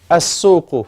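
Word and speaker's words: السوق: soku as so cool so the lamb is not being pronounced why what's the Delisle proof the shadow on the left on the letter after the lamb so you go from the a leaf to the seen as so cool okay brothers so a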